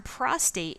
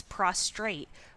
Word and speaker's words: prostate: the body to another the term prostate is frequently mispronounced as prostrate with an extra are added prostrate is a position